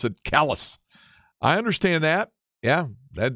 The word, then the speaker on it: Calais: Calais Maine is where that meteorite somebody said Calais is the proper French pronunciation for Cali man locals call it pronounce it callus I understand that yeah that the way something